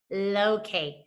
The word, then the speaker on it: locate: Okay, so the word is O, A, T, and we don't hear that E. Sounds up. Go ahead and put the sounds on your fingers, friends. O, A, T. Blend it, locate.